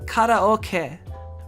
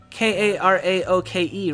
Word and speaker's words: karaoke: well it's pronounced karaoke right because that's the actual because it's it's spelled right like k-a-r-a-o-k-e right but like the that has a specific way you say it in japanese where it's right so